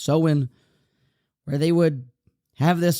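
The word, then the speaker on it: Samhain: of the seen Nation I thought it was saane but apparently it's pronounced seen where they would have this sort of Festival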